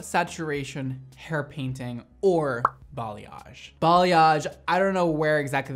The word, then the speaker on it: balayage: a interesting word that a lot of people can't pronounce they say boo Liege they say college they say but bill age like I've heard everything everything and I laugh every